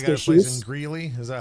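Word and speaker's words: Greeley: I got a place in Gley. Is that how it's pronounced?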